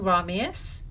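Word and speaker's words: Romeus: ramius and juliet and i'm saying ramius it's not a mistake i often make pronunciation mistakes i'm very guilty but this is not one of them because shakespeare while a genius was not able to write romeo and juliet when he was only one year old yes because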